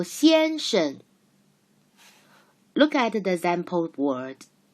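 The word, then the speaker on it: 先生: 先生先生 Look, 生 has the second syllable has no tone. We learned this called neutral tone in phonetics part. Remember? So 先生 Look at the example word.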